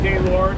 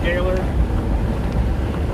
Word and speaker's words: Gaylord: You got Ypsilanti up there, Cadillac, Gaylord, not Gaylord, but Gaylord. Especially up in the Upper Peninsula, things can get a little more difficult to pronounce.